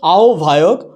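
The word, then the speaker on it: আহ্বায়ক: উচ্চারণটা হয়েছে গৌ ভর, হয়ে যাচ্ছে আও ভায়ক, হয়ে যাচ্ছে আও ভান।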